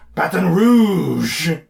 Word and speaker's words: Baton Rouge: Our last two episodes were from a far, far away land known as Baton Rouge. Yeah, I'm sure that's how they pronounce it.